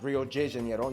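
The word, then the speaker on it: Rio de Janeiro: that's right it's pronounced Rio Jano not Rio get it right we're not in Mexico this is Portuguese not Spanish wa so it's Rio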